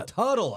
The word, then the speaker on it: Tuttle: Oh, that's them right Turtle there. Twins right there. Did I say it right, Turtle? You said it right. Oh, Tuttle. Oh, it's Tuttle. Twins.